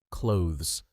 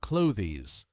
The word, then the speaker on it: clothes: Yes, the th is almost silent. It's not cloies.